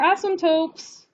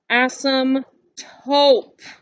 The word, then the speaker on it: asymptote: to spell that word you are saying asym taupe you're saying asym taupe it is clearly asymptote tote bag as some tote and she said yeah